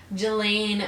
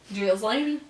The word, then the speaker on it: Ghislaine: Ghislaine? Yeah. But I think it's pronounced Ghislaine or Ghislaine. Yeah, no, yeah. Everything is silent except for the G and the Elaine. So, yeah, the H and the S.